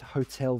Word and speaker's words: hotel: I mean, the reason that I put this is that's the traditional way to pronounce it. I will still understand if you said hotel. I still understand it because there's not a similar word. But the way that we pronounce it usually is hotel.